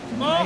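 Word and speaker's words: maure: Alors, mort, ça s'écrit M-A-U-R-E. Alors en fait c'est du poil gris mélangé avec du poil blanc.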